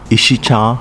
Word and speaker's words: Ishikawa: formed in 2005 with the merger of gushikawa ishikawa katsurang and yonogusuku pronounced gushicha ishicha kaching and yunangoshiku respectively in uchinanguchi it is